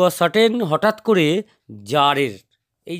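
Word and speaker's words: tsar: to certain হঠাৎ করে জারের এই যে টি এস এ আর এখানে কিন্তু টি টা সাইলেন্ট এর উচ্চারণ হচ্ছে জার এবং জারের হচ্ছে জারটা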